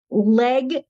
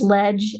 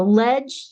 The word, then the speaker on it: leg: website um it's just leg actually it's pronounced ledge as in short for legislator legislative so ledge.